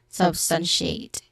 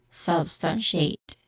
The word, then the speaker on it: substantiate: She, which has a short E sound, substantiate. Substantiate. Ate, which has a diphthong sound. Okay? So this is substantiate. The second syllable is the stressed syllable, stun.